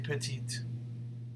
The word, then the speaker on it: petite: Elle est petite. Ils sont petits. Elles sont petites. Right? And you see how we pronounce the T for the feminine, right?